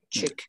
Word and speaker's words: Tyk: Ja, det udtales ikke helt sådan. Tyk. Noget af den stil.